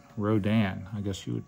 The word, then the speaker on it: Rodan: what it looks like like uh this is rodon Rodan I guess you would pronounce it and it's basically a dragon pterodactyl